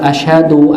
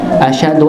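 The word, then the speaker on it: أشهد: Dan yang saya soroti adalah ketika menyebut atau melafazkan ashadu. Kebanyakan banyak yang saya dengar bacanya ashadu dengan sin bukan syin ashadu bukan ashadu ashadu alla ashadu alla ya.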